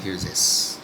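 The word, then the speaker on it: Hughes: এখানে উচ্চারণটি হবে হিউজেস।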